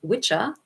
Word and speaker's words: Wicca: And that's where the Old English term witcher, which is how it's pronounced in Old English, which means sorcerer or